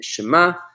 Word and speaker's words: Shema: with an M and the final letter here is the letter ayan which looks like a silent pair of eyes it's a silent letter looks like a silent